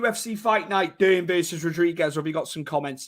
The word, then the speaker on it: Rodriguez: happened rodriguez is uh are they called the hodriguez didn't they on in the commentary because she's uh brazilian they changed the pronunciation don't they i think